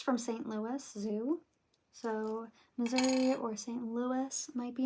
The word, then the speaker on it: Missouri: So, Missouri or St. Louis might be important. I'm also I I'm a Midwesterner. Okay. So often times I accidentally pronounce Missouri as misery uh when I speak quickly.